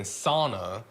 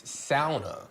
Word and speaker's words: sauna: Because I grew up saying sauna, and when I came here, Tia was like, no, it's sauna.